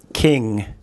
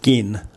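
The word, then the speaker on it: กิน: So the way the transliteration system would deal with the word to eat would be kin. Kin. But that's not right. It's not the same as the kin in family. It's gin.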